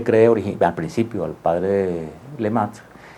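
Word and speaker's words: Lemaître: Entonces hubo un sacerdote belga que se llamaba Georges Lemaitre, que en francés se debe pronunciar algo así como Lemaitre, que él formula por primera vez esa teoría del Big Bang en el año de 1927.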